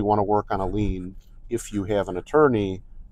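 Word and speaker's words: lien: l i en but it's pronounced lean just like you lean on a desk or you lean on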